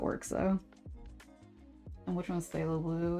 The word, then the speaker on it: phthalo blue: Was it phthalo blue? Yeah, okay, I said it right apparently.